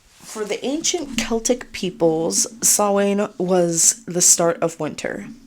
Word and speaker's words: Samhain: Dr Lumis and say sam Hayne it is not that because um in gelic I think it is the the m and the H make a w sound so but anyway uh